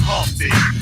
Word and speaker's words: Humpty: My name is Humpty, pronounced with a umpty.